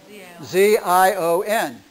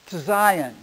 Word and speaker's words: Zion: most of the time you see it how z i o n okay but the S but the zy is an S sound Zion Zion is how it gets pronounced so you